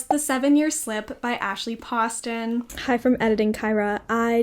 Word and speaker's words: Poston: since found out that it is pronounced Poston, not Poston. I continue to say Poston several times throughout this video, but it is not Poston, it's actually Poston.